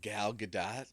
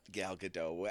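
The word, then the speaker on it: Gal Gadot: like uh was it galat whatever the hell however you say I I feel like it's not galado I said it like that for so long I feel like you pronounce the T it doesn't matter it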